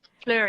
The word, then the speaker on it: Fleur: Yeah, let's see if am I saying your name right, Fleur? Sorry? Am I pronouncing your name correctly? Yeah. Fleur? Okay. Fleur, yeah.